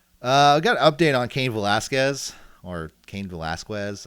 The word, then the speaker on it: Cain Velasquez: I got an update on Cain Velasquez, or Cain Velasquez. Like, how do I pronounce it again?